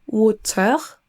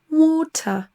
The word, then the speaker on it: water: On dira pas water en prononçant le R, mais water, on entend pas le R du tout dans l'accent britannique.